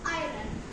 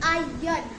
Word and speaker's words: आयरन: First word है हमारा आयरन, जिसे हम में से बहुत सारे लोग आयरन ही बोलते हैं, लेकिन नहीं, ये गलत है। हमें बोलना चाहिए आयन, आयन। इसमें हम आर को प्रोनाउंस नहीं करते हैं, आर साइलेंट रहता है इसमें।